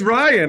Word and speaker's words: Rian: Malcolm just thinks it's pronounced Rian, and it's not. No, it's Ryan.